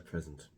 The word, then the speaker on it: present: like the present to present her present so the first use of uh present means the means the current time it means right now in the present with the stress on the first syllable present present and the